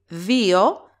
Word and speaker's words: δύο: The exact same thing happens with δύο and δυο. First case, two syllables, an accent on ypsilon.